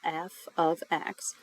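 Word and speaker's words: f(x): uses f of x and that's how we pronounce this symbol f of x to represent Y in an equation so instead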